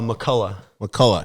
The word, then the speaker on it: McCullough: how do you say your last name uh Mulla Mulla and that's Irish I think it's Scottish or